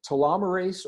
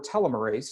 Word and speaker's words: telomerase: all have this enzyme it is called telomerase or telomerase again I've heard it pronounced both ways scientists knew about